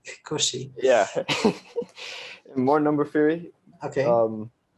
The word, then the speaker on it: Cauchy: names, but Cauchy, I think he's Swiss. I'm Cauchy. not sure. Yeah, You have to somewhere say in Europe. say it the French way. Cauchy.